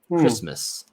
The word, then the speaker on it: Christmas: The word Christmas is spelled uh like this with a with an a at the end. So you would think it's like Christmas, but it's not. That that a which should be a short a is actually an h sound, a schwa sound.